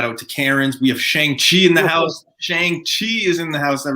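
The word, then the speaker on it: Shang-Chi: so i'm gonna stop saying shang chi it's shang chi um but yeah they did the oh what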